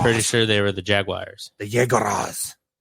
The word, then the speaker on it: Jaguar: jaguar guy dustin jaguar does anybody call them the wires they're the jaguars are they yeah i always thought they're the jaguars that you're pronouncing it at your hoity-toity like just pronouncing that you're not doing the uars or the w-i-r-s w-a-u-r-e-s if you actually go to the car company's website and you listen to them what about uh legends